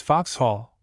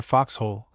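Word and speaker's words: Vauxhall: Ascend the river is fox hall or rather Foxhole the first syllable of of which is corrupted into Vox by the vulgar who tell a foolish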